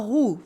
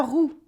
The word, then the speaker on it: roue: As in, for example, la rue for the street, la rue, and la roue for the wheel, la roue. Can you hear the difference? La rue, la roue, la rue, la roue, OU, U, OU, U.